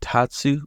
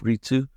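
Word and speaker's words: 立: I think I did Tatsu before instead of Ritsu, which I think Tatsu is to stand, and Ritsu is just stand by itself.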